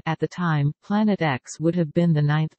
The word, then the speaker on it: Planet X: The X in the name represents an unknown and is pronounced as the letter, as opposed to the Roman numeral for 10. At the time, Planet X would have been the ninth planet.